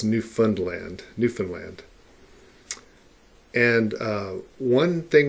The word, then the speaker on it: Newfoundland: to look at is newfoundland and so it looks like it might be pronounced new found land the people who live there pronounce found more as like fund and so it's new fund land newfoundland and uh one